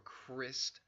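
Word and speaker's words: Kryst: is the Christ or Crist justice that Oceana Dean explains she explains that the word Crist is is the actual pronunciation and and spelling of Christ it is K ry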